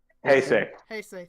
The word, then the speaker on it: Heisei: Heisei, how is it pronounced? Heisei, thank you.